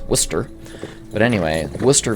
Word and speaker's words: Worcester: in well if you come from Boston it's pronounced Worcester but anyway wer V Georgia which was a